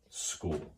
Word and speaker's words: Skool: on this website and it is called school now I know it sounds just like regular school but it is spelled differently so it is a different thing I I know I